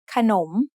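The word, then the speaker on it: ขนม: The first syllable ka is low tone, and the second syllable nom is rising tone because the high class consonant kho kai has an effect on both syllables.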